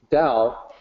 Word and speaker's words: Tao: Okay, so the short answer is that the correct way to say Tao is with a D sound, Tao, and I have people who will push back on that.